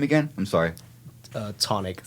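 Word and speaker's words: Chthonic: Tonic. So the CH, I think, is just silent.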